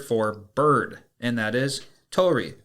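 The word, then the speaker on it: 鳥: Today's Lance's lessons is going to be the Japanese word for bird, and that is Tori. Tori is spelled Tori, and Tori is very relevant to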